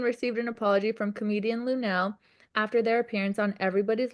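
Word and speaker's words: Lunell: Does she pronounce her name Lunel? Yes, Okay. Lunel apologizes to Pete Davidson for touching him on live TV.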